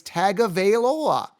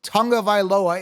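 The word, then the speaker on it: Tagovailoa: t-o-u-n-g oh well it's just Heritage no it's tagavailola tago Veil Ola is his name anyone says Tonga vailoa is is well I don't want to curse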